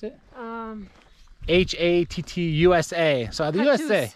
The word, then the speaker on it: Hattusa: So it was how do you pronounce it? Hattusa. So the USA, Hattusa.